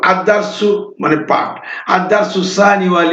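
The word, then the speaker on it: الدرس: তো এখানে দেখেন আলিফ, ওই এখানে এই যে দাল, লামটা, এই আলিফ লামের এই লামটা এখানে উচ্চারণ হবে না।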